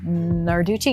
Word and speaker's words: Narducci: Narducci, yes. Ner. I forgot the ner.